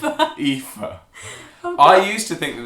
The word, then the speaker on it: Aoife: Pronounced Aoife. Aoife.